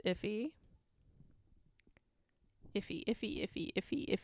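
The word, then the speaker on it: IIFE: me um oh uh i learned that this is pronounced iffy if he if he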